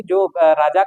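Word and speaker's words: czar: Nicholas Nicholas द्वितीय जो था वह जार के यानी राजा के दय अधिकारों में विश्वास करता था। ध्यान रखिएगा ये जार ऐसे लिखा जाता है। इसकी स्पेलिंग होती है के जेड ए आर के साइलेंट होता है।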